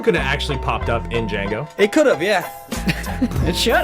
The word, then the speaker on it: Django: to talk about it's Django Unchained the D is silent I'll see you guys